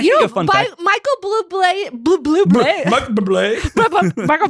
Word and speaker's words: Bublé: Michael Bublé. Michael Bublé. That's how you pronounce his name.